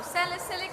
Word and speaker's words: salicylic acid: but also they have, I don't want to mispronounce it, by sialic acid, if am I pronouncing it correctly. One of the ingredients is sialic acid, which I think Oh, salicylic acid.